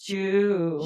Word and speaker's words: Zhu: But there is this kid, Eric Zhu, and it's pronounced Jew. Jew. Oh. And that alone had me stumped on this article. I was like, in what world? And I know I sound super ignorant and probably like a little white and not racist, just ignorant. ZHU is pronounced JEW.